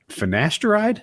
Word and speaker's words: finasteride: think you know what would really benefit you finasteride did I pronounce it right yep how do you say